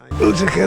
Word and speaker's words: Utica: Utica. What's there for us? Oh, so Utica is a place, and I pronounced it way wrong. Utica then?